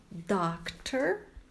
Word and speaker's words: doctor: Doctor, olha a pronúncia do O, doctor.